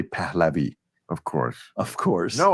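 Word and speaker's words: Pahlavi: their name palavi pavi Americans say palavi we say pavi of course of course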